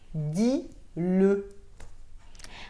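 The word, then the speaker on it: dis-le: น ะ ค ะ Vous devez prononcer le E juste pour le pronom personnel le. Par exemple, dis le.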